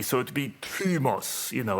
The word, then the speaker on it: thumos: ooh but it is the Upsilon is pronounced in the same way that the modern French U would be so it'd be trimos you know like like